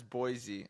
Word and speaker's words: Boise: the way I just realized that it's Boise and I mispronounced it earlier so that's I'm sorry